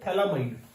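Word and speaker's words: phthalimide: पीएच is silent, मैंने आपको बताया हुआ पीएच is silent, that is व्हाई we call it थैलामाइड reaction. अब देखो इसमें जो मेन बात याद रखनी है आपको, here we get aliphatic amine from aromatic reactant.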